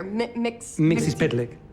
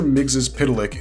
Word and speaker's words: Mxyzptlk: Mxyzptlk. It's spelled like it sounds.